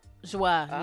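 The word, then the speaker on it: Joie: That's how you say her name? Joa? Joa, yeah. Well, I know. I thought it was Joy.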